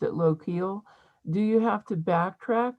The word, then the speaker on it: Lochiel: The last one I have is that when you are down toward, I think you pronounced it Lochiel, do you have to backtrack or can you continue? Yeah, Lochiel.